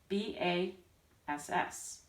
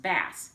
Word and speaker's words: bass: ideas so this is the bass clef bass is spelled this way ba SS now in English that's usually pronounced bass like as in a fish but in music